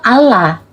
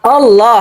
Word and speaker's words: Allah: di Indonesia kenapa jadi O itu pelafalan ini harusnya tetap Allah bukan di Indonesia, Pak.